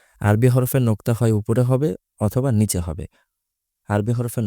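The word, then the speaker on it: ح: টান কোন নোক্তা নেই হা উচ্চারণ করার সময় একটু কন্ঠনালীর মধ্যভাগের সাহায্য নিয়ে একটু প্রেশার দিয়ে উচ্চারণ করতে হবে।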